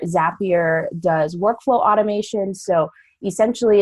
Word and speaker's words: Zapier: you pronounced it right zap your rhymes with happier you like to say zap your makes you happier and so I lead communications at zapier zapier does workflow automation so